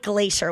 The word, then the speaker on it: Glaser: I know, but it's Glacier with me.